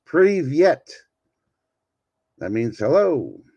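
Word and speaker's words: привет: We'll start today with your first Russian word, privet. No, that's not how you say it. It's privyet.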